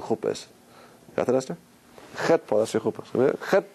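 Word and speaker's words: חטא: Which letter is silent?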